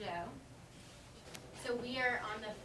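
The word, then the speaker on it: Zhou: tricks people up because it starts with the Z but it's pronounced the Joe so we are on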